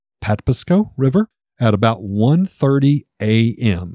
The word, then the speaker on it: Patapsco: over the mouth of the, I believe it's pronounced Patapsco River, at about 1:30 a.m.